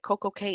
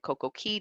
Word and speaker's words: CocoCay: day at CoCo K now you might have noticed that the pronunciation changed and that's because it Rhymes uh perfect day at CoCo Key does not rhyme perfect